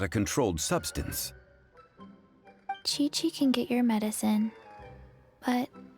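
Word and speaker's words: Qiqi: welcome to boo-boo pharmacy i am chi-chi oh i did say it right once upon a time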